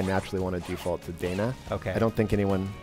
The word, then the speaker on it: Dana: and thank you for that is that I mispronounce the name of the game and it's lacrimosa of Dana not Donna here's the thing so here's the thing technically